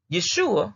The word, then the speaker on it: Yeshua: Yeshua, which is your old Hebrew language of pronouncing it.